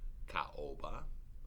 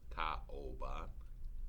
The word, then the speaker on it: caoba: So, for instance, caoba, caoba, ao, two syllables. Caoba means mahogany. You would put ka is the first syllable, then o is the second syllable, and then ba is the third syllable.